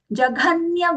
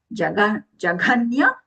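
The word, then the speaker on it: जघन्य: Then, jaghanya guna vrittistha. Take it in parts. Jaghanya guna vrittistha. Then we can put those together. Jaghanya, when we say the gha, there is gha, mahaprana.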